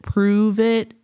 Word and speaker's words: Pruvit: there for pretentiousness um I think they wanted people to say o oh like pronounce it prove it and cuz I cuz